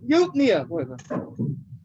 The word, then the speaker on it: eupnea: Isn't it pronounced like Eupina? Eupina? There you go. Eupnea.